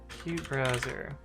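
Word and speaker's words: qutebrowser: screw it up where's the pronounce how to pronounce cute browser cute browser okay I'm right we good uh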